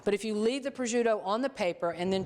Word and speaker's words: prosciutto: with the remaining Pudo some people pronounce prute um which I certainly understand that but I'm not from Italy um so it's Pudo to me so we're going to